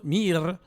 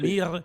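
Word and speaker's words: мир: Entonces sería mir en ruso, mir. Esa es la expresión, mir, significa mundo y paz.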